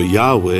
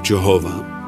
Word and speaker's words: Yahweh: name yes obviously so scholars prefer yahweh instead of jehovah yahweh a more accurate pronunciation the sovereign of the